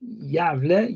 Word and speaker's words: Gävle: Then you have this letter G and pronounced as J, like Gävle, Göteborg, and then this the